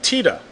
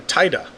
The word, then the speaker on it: TITA: in itself will be referred as Tita or Tiida depending on where you're from how you want to pronounce that it will be issued